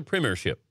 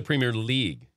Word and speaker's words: Premier League: soccer snob on me correcting me on my pronunciation so it's not the premier ship no no no no it's the Premier League the premier not Premier Premier Premier Premier correct